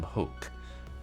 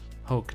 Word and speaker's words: Hoke: One of Dragoonstown's many soothsayers, Madame Hoke, pronounced like you're coughing up a gnarly bit of phlegm, is the real deal.